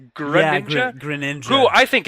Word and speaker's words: Greninja: Did I pronounce that correctly? Greninja?